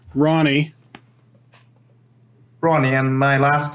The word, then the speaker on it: Rony: all right so your name is pronounced Ronnie Ronnie and my last name is